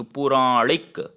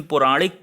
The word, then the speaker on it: पौराणिक: तो लेकिन पुराणिक तो कोई अच्छा सा प्रोनाउंसिएशन होगा नहीं, तो ये दोस्तों हो जाएगा पौराणिक। आपने पुराणिक कोई शब्द नहीं सुना होगा, तो इस वजह से कंफ्यूज करते हैं। तो ये पौराणिक होगा।